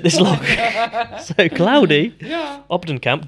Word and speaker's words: Op den Kamp: Obden Kamp, Dr. Claudy Obden Kamp. Am I pronouncing that correctly? Mm-hmm. Yeah, good. Put this book together.